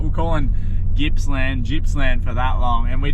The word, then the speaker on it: Gippsland: Like we're calling Gippsland for that long, and we didn't mean to do that. There's no J.